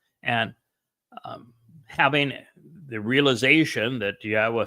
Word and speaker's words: Yahweh: person to tell you that Yahweh's name is pronounced Yahweh, and explained exactly why and proved it.